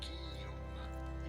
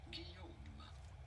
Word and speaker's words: Guillaume: Sounds like a Y. Guillaume is how we would say it in Guillaume. France, but it'd be fine in English to say Guillaume.